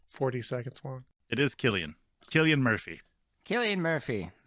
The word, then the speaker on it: Cillian: as salient before i've always heard it as kayleen i'm looking up a pronunciation now i am too it's a hot debate but why does this pronunciation video need to be 40 seconds long it is killian killian murphy kelly and murphy anyway jim was